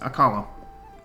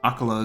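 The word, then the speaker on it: Akkala: aala to the Northeast aala akala is the wrong pronunciation there next a will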